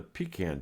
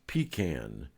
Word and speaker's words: pecan: into one of the pecan trees pronounced pecan for those of you not from north carolina pecan is for snooty people and pecan is the way we say it down south it was a long